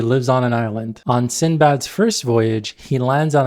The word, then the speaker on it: Sindbad: Note the spelling in Sindbad with a D. That's how it's spelled in Arabic, Sindbad. But for some reason later on, people started dropping the D in the English translations. So today people know him as Sinbad.